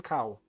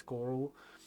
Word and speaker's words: Carl: And nobody could pronounce his name, Carl. It's like they would call him Cow. But I knew English, so it kind of is the same pronunciation for the German, so it's Carl.